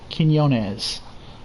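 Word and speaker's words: Quiñones: It's pronounced Quinones.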